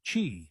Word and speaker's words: Qi: The most common standard is Qi, pronounced Qi, which is supported by most modern smartphones, wireless earbuds, and even electric toothbrushes.